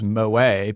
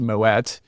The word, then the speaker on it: Moët: It really is just pronounced Moët because the brand traces back to a Dutch family. So that's why it has a hard T ending.